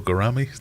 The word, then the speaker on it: gouramis: Not much rhymes with salami, so gouramis do have a use.